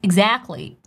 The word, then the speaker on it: exactly: this pronunciation tips exactly I'm not saying exactly this tea disappears exactly it happens very often in American English and by the way